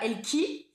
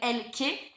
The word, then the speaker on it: Elke: Donc moi faut savoir je m'appelle Elke et pas Elki, hein, ou Eneken. Voilà, je m'appelle Elke. C'est un prénom assez compliqué parce que c'est pas français. Voilà. Et donc du coup, bah moi c'est Elke, donc ça s'écrit E-L-K-E.